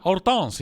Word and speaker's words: Hortense: Hortense si sentì chiamare per tutta la sua vita Hortense in francese, ma io per semplicità pronuncerò il suo nome in italiano, non tanto perché lei